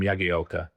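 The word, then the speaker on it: Jagielka: just said, you know, you've been pronouncing my name wrong my whole career. You know, I'm Yagi Elka.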